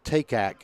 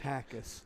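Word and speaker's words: Takac: He'll go to the 42-yard, and number 13, Noah Takak is that pronounced correct, Coach? Takis. Takis. It took me a while, too. Takis, T-A-K-A-C. I know, but it's Takis.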